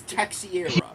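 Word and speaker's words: Teixeira: It is Texiera. Yes. Okay, so Okay, so it's pronounced with an SH because he's Portuguese, so it would be SH.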